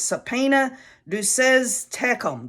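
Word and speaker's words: subpoena duces tecum: know I look at this word and it's subpoena who says tecum that's how it's pronounced and what it is it's Latin first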